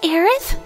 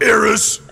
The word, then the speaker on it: Aerith: Because it's pronounced Aerith? Son of a bitch! You done messed up, Eris!